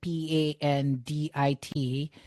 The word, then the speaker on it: Pandit: I know that the word P A N D I T is actually pronounced Pandit, right?